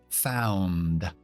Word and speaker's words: found: Found. Grupo consonántico al final de found, ND. Importante pronunciar las dos cosas.